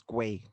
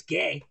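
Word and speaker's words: Guay: The U is silent. It's James Gay.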